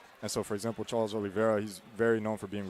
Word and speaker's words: Oliveira: Charles Oliveira, am I saying it right?